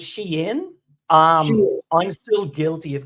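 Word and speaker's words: Shein: fashion world but what's the correct way of pronouncing it I mean so so it's Sheen um I'm still guilty of calling it Sheen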